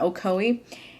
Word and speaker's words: Ocoee: Novelties Comics and Games, which is located in Ocoee. I had to ask someone how to pronounce that because I had no idea how to pronounce that city in Florida, Ocoee.